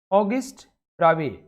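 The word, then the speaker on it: Auguste Bravais: ऑगिस्ट ब्रावे साहब, इनका correct pronunciation है फ्रेंच में ऑगिस्ट ब्रावे।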